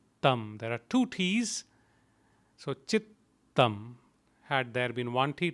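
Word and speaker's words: चित्तम्: your tongue up there are two t's so chittam had there been one tea it would be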